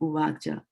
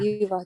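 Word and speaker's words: uvāca: which is correct, then this should be uvacha. But the same Uvacha. Oh, not yuvacha. and not yuvacha, right? You see, that's the English that comes, usurp. So that English comes in.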